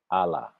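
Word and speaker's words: Àlá: The word for dream in Yoruba is Allah, right? It's spelled ALA.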